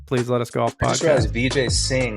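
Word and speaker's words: Vijay Singh: let us golf podcast VJ sing rhymes with golf swing you about that who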